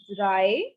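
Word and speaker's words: drei: next is three so for three the word is dry dry like in english we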